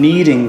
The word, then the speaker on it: knead: When you, it sounds the same, but it's spelled differently? I think that's right. This is kneading with a K-N-E-A-D.